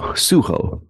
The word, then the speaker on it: Sujo: say it right suo suho it looks like sujo but it's Spanish speaking movie and suho I believe is closer to the proper pronunciation and then I caught